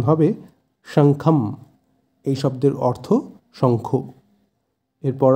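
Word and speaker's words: শঙ্খং: অতি উচ্চস্বরে এরপর আছে শঙ্খম যেহেতু শুরুতে তালিবশ্য আছে তাই স এর উচ্চারণটা হবে শা সা কিন্তু নয় শঙ্খম তাই সংস্কৃতে অনক্ষরের জায়গায় ম এর উচ্চারণ হয় তাই শব্দটির উচ্চারণ হবে শঙ্খম এই শব্দের অর্থ শঙ্খ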